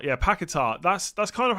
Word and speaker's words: Paquetá: Paquetá, emphasis on the tar. Yeah, Paquetá.